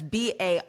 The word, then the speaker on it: Barrero: Okay, so Barrero. That's Barreiro.